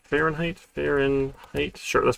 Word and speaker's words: Fahrenheit: and height h five ah fahrenheit sure english is is fun like that of course there's a silent h there all right so if